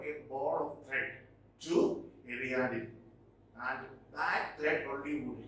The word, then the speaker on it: Ariadne: Okay, Ariadne. That is the pronunciation.